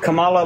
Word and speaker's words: Kamala: Because I feel like Kamala, like, I think she I feel like she's not real.